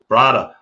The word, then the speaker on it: brada: a few times so i know that that's the right way to say thank you brother brada i i got yelled at by somebody in hawaii for saying it wrong my friend down there